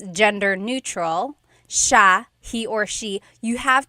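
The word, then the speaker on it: siya: It's sha sha. The s i y combination makes the sh sound in tagalog. Some regions say sya but in the Luzon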